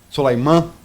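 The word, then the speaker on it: Soleimani: Quer dizer, foi não é novidade para ninguém o assassinato do Suleiman, né, que era o general Soleiman, a pronúncia, era o general iraniano principal da guarda,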